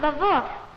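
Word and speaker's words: Lwów: It's pronounced Lvov. My mother told me so, and she was born there.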